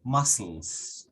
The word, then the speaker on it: muscles: Bones, muscles, muscles, pero se pronuncia sin la k, muscles.